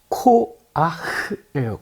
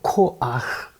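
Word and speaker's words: כֹּחַ: 이게 발음이 어려워요. 코아흐예요. 코아흐.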